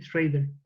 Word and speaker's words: Schrader: Yo estuve leyendo que el guionista, no sé cómo se pronuncia su apellido, pero tiene apellido como Paul Schrader, Schrader. sí, Schrader.